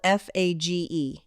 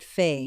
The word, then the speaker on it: Fage: It's spelled F A G E and I called it Fay for about 10 years before somebody told me it's Fage.